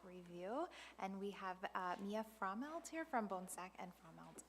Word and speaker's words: Frommelt: Thank We will move into the fiscal year 24 audit review, and we have Mia Frommelt here from Bonsack and Frommelt LLP.